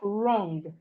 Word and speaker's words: wrong: We have wrong. Wrong. The W in wrong is silent.